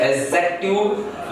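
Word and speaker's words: adjective: एडजेक्टिव या D silent है, हिंदी में बात करें तो विशेषण वाक्यांश बोलेंगे।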